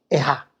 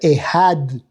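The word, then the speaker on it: אחד: Si pronuncié bien Ejad o dije Ejá. Debe ser Ejad. Porque si no Ejad es otra cosa.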